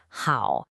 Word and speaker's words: 好: This character is pronounced how.